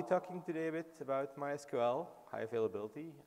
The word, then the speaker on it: MySQL: always ask me like is it my SQL or MySQL or whatever um so the official way to pronounce it is MySQL but we're open for